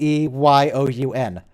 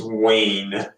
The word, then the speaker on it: Weyoun: You got Weyoun's name wrong. It's Weyoun. I've got you now. His name's Wayne. Wayne? Yeah, Wayne.